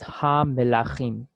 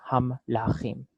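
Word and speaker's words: המלכים: put on the ha, in modern Israeli pronunciation, we like to maintain the identity of the pronunciation between melachim and when you add on the ha. So we want to make it sound the same. We don't want to go like ham-lachim.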